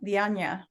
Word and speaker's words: Dianña: Yeah, it's España. When I met my real dad, I found out they're from Alarcón, Spain. So España, Dianña.